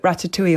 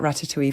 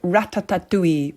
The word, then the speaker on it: ratatouille: And we'd be living off that ratatouille for days of the holiday. It was a brilliant thing to make. And she would always call it ratatatouille. For some reason, she added that extra syllable, which I kind of love.